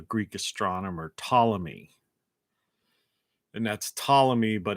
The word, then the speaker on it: Ptolemy: astronomer ptolemy and that's ptolemy but it's pt you know the p is silent he was a greek